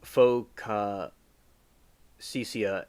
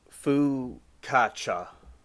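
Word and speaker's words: focaccia: The fauxa cisia is a I probably pronounced that wrong.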